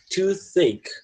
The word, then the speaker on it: toothache: A gente pronuncia tooth, tá? Esse último som, ele é chiado, tooth. É aquele som com a língua entre os dentes. E o ache, né? O A-C-H-S, pronuncia ache mesmo. Então você vai ter que juntar o tooth mais o ache, aí fica toothache.